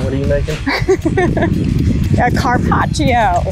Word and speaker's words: carpaccio: an access deer oh i'm excited help me pronounce it one more time what are you making a carpaccio carpaccio oh wow that's your first access box